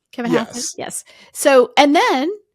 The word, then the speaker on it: Hassett: Kevin Hassett?